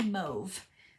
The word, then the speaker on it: Mauve: It rhymes with stove. They call it Moody Mauve.